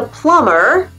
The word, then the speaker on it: plumber: Allez, on le fait ensemble et on oublie les B. On ne les prononce pas. I doubt your debt with the plumber will climb.